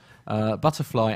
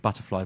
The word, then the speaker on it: BTRFLY: Well, I'm pronouncing it Butterfly, but it's spelt BTRFLY, that offers air travellers the opportunity to connect in real life with like-minded people.